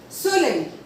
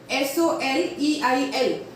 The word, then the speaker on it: soleil: Now, the point number 18 says that if E-I-L or E-V-I-L or E-V-I-L-L-E, they come together in a word, the pronunciation is I. E-I-L, E-V-I-L, E-V-I-L-L-E, if they come together in a word, the pronunciation is I. For example, soleil, S-O-L-E-I-L, soleil. F-E-U-I-L-L-E, file. F-E-U-I-L-L-E, file. F-A-U-T-E-V-I-L, that is futai. F-A-U-T-E-V-I-L, that is futai. Soleil is a sun. Fur is a leaf. Futai is a sofa or an armchair.